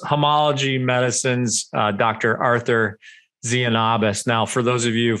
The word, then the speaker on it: Tzianabos: to look them up it's t-z-i-a-n-a-b-o-s but it's pronounced zeonobus so there you go i'm this